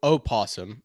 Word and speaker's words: opossum: It's actually spelled opossum, but I know what you mean. The O is silent.